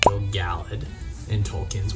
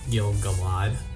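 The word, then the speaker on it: Gil-galad: our guy Gil galad pronounced Bill Gallard it's not Gil galad which I thought it was uh am I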